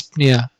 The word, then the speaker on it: dyspnea: the next term is dyspnea and the p here in dyspnea is a little bit soft we do not say this paneer this dyspnea as soft as possible